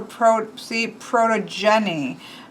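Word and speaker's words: Protogeneia: So they even did it for protogeny. Protogen, you have the accent on the Jenny.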